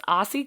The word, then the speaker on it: Ossie: He's a British fashion designer, and Ossie is spelled O-S-S-I-E if anybody wants to look him up, because it also sounds like it could be spelled A-U-S-S-I-E, and it's not.